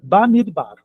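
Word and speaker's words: במדבר: O normal da palavra é só isso aqui, ó, midbar, mas ela tá com uma preposição na frente, fica tudo junto. B, mid, bar.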